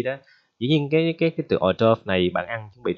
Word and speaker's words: hors d'oeuvre: Thì cái từ này đọc là hors d'oeuvre, đọc lại ha, hors d'oeuvre ok chưa, hors d'oeuvre.